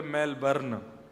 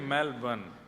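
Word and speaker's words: Melbourne: कहां रहते हैं मेलबर्न हमारे एक भैया बोले मेलबर्न जो मेल को जला दे मेलबर्न मैंने कहा नहीं मेलबर्न र जो है वो साइलेंट बोलो तो लेकिन हुआ क्या यहां आके इससे बढ़िया तो भारत में ही थे।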